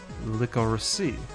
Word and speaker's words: licorice: it right here licorice licorice is pronounced licorice but every other word i can think of ending with i-c-e is pronounced differently okay that's the question the